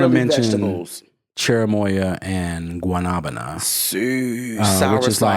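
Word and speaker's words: guanábana: And if you can't pronounce guanabana, for those that are old enough, you may remember the song from the Muppets, Mana Mana, doop doo doo doo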